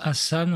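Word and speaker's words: Ghassan: Dans le prince Hassan, on ne prononce pas le G.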